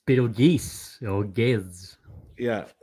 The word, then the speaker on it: Betelgeuse: Like that's his actual name, but they knew that everyone would say it wrong. So on the title screen, it's just, all right, this is how it's supposed to sound like, so everyone knows how to say it.